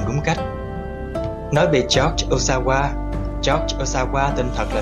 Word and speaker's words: Ohsawa: thức lấy tên là Osawa. Theo như cách phát âm trong tiếng Pháp, Osawa có nghĩa là tôi khỏe, như một câu trả lời cho câu chào hỏi bạn khỏe không.